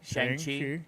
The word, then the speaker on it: Shang-Chi: Yeah, Shang-Chi.